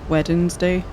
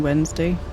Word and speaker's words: Wednesday: instead of Wednesday, I guess cuz I put that extra syllable in there. Weddednesday rather than Wednesday.